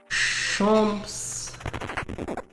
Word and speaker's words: champs: Champs. Well, you wouldn't pronounce the S because it's broken.